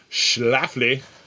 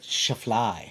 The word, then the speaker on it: Schlafly: how to say it schlafly it's the schlafly pumpkin ale i never realized there was an l in the front i was calling it shaflai oh yeah it's schlaflflash maybe schlafly maybe it's schlafly yeah